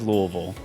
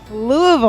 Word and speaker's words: Louisville: them are wrong but the correct one is Louisville that's right Louisville all right well you were sharing with me